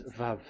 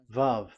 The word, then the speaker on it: vav: Vav. So it's V as in Vogue. So it's really V. How to read Vogue? So the word, the shape Vav is really pronounced V, like Vogue.